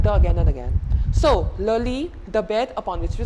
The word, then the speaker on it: le lit: The first one, le lit. T not to be pronounced, it's a masculine term, le lit.